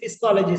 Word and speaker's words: psychology: Then afterwards, I gave a smile and I said, P is a silent.